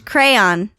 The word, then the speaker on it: crayon: Crayon. Crayon? Yes, it's a crayon. A crayon. Yes. Dude, it's a one-syllable word.